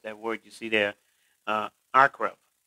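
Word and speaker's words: עקרב: word you see there, akrab. It's pronounced the way it's pronounced in Hebrew. And of course, we in English, we may say arkrave, because we want to kind of sound every letter, but it's akrab.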